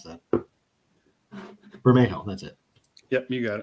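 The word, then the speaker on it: Bermejo: more like the joker comic from lee uh varajo yeah burma i can never pronounce that burmejo that's it yep you got it hey we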